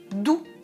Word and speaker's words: doux: Et ensuite, doux. Je recule la langue.